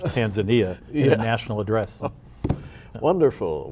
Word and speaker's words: Tanzania: But okay, President Trump just pronounced it Tanzania instead of Tanzania in a national address.